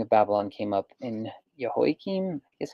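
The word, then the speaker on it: Jehoiakim: is your king of Babylon came up in yahoi Kim is how you say hi king became his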